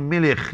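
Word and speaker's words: מלך: كاف كتبين يعني كتب لكنهم الكاف اذا جاءت متطرفه تنطقوا عندهم خاء العبرانيه الكاف متطرفه تنطق خاء فلذلك قالوا تناخ ولذلك يقول ملخ يعني ملك ملك ملك وال الملك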